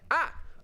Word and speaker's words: a: First, there's the word ah, which is spelled a.